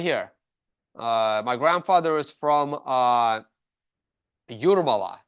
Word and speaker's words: Jūrmala: My grandfather is from Jūrmala. It's pronounced Jūrmala.